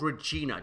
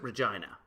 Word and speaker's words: Regina: and so she got ver no it's called Regina do not pronounce it Regina yeah all right thought she was nuts and